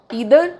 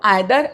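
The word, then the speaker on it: either: दूसरी बात, ईदर एंड नीदर American pronunciation है और आइदर एंड नाइदर British pronunciation है। हम लोग ब्रिटिश इंग्लिश को फॉलो करते हैं, तो आइदर एंड नाइदर, वैसे बोथ आर करेक्ट, दोनों तरह से आप लोग बोल सकते हैं।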